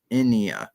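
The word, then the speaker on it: ἡνία: just a so this this word here is pronounced inia it's it's Ada uh new Iota Alpha so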